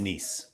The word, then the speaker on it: Nice: Shout out to you for knowing it's Nice. Yeah, it's like the one Way to thing be. I've ever pronounced correctly ever.